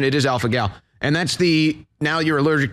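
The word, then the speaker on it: alpha-gal: Is that the pronunciation? It is alpha gal.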